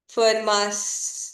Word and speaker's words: Fermat: So Fermat was French, so the T is silent, at least in this case.